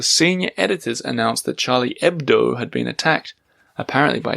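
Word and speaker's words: Hebdo: was I searched online for Charlie ebdo EB d o without the H based on his pronunciation and found it was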